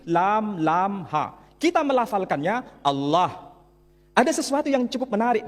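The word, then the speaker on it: الله: masyarakat Timur Tengah ketika menjumpai istilah alif lam lam ha dibaca Allah Tetapi mereka serempak menyebutnya dengan pronunciation Allah menyebut dengan sebutan Allah Allah ini tidak dikonstruksi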